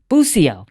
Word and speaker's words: Bucio: Now, Bucio. Bucio. Did I say it right? You did.